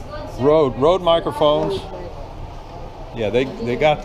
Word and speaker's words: Rode: Is this pronounced Rode or Road? Yeah, Road.